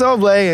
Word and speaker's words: Oble: I was like, oh, it's Oblay, and you'll learn it soon enough. It's good. There's the accent on the E.